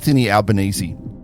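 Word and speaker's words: Albanese: the most fews and to pronounce his name is a bit tricky too it's albanesi you know we know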